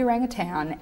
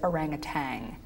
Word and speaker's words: orangutan: that everyone mispronounces orangutan it should be orangutan everyone says orangutang doesn't that drive you